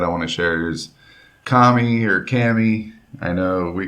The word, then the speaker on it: Kami: Yeah, it's Kami.